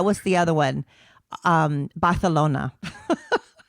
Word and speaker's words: Barcelona: You have to lisp on. Yes, you're supposed to lisp the s. Barcelona.